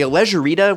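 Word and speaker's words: Alleggerita: And if you're all about shaving off every possible pound, the Allegerita, which kind of rhymes with margarita, is a package for you.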